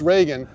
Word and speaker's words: Regen: meaning that means rean it's pronounced Reagan which is not the name of a former president but actually means rain in German so basically rain mode